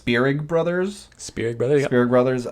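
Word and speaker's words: Spierig: uh the directors are i think it's pronounced spirig brothers spirit brothers spirit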